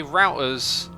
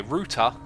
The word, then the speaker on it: router: minute I just realized you say routers the way Americans say it can you say it the other way ruta route or router I flip between the two sometimes okay let's get a